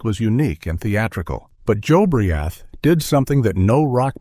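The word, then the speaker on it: Jobriath: His name was Joe Briath, pronounced Joe Briath.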